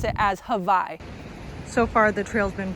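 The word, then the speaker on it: Hawi: see a spot called hawaii h-a-w-i but they pronounce it as hawaii so far the trail's been pretty rocky and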